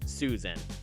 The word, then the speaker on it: Sui-San: a brutal war named Sui-san, although I think it's actually intended to just be pronounced Susan.